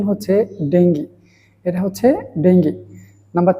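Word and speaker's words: dengue: নিয়ে কথা বলব যে শব্দগুলো সাধারণত আমরা ভুল উচ্চারণ করে থাকি এর মধ্যে প্রথম হচ্ছে ডেঙ্গি আপনারা স্ক্রিনে দেখতে পাচ্ছেন যে শব্দটা সেটাকে আমরা অনেকেই বলি ডেঙ্গু আসলে এটার সঠিক প্রোনাউন্সিয়েশন হচ্ছে ডেঙ্গি এটা হচ্ছে ডেঙ্গি নাম্বার টু হচ্ছে ডিলিট এই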